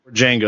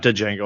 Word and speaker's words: Django: Django he did yeah Django it's not Django I always say that wrong it's Django the D silent um I think he